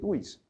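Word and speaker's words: vis: Y está bien preocuparnos porque si wish packing, como dicen algunos, Paco, no se dice bis, se dice wish.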